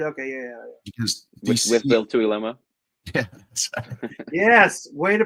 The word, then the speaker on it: Tuiloma: Because with Bill Tuiloma. Yeah. Yes, way to pronunciate it.